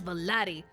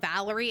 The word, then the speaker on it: Vali: That is Vali. And I am so glad they say his name and not Valerie.